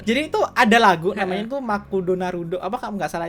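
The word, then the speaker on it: マクドナルド: itu adalah gunanya itu makudonarudo apa kamu nggak salah itu McD Jepang bahasa di terbacanya tuh makudonarudo Uh Ezra nya tuh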